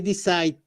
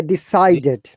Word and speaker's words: decided: D at the end, if there is S at the end, you must pronounce it. Otherwise, it doesn't make sense. It loses its sense, okay? they decide No, to move. they decided.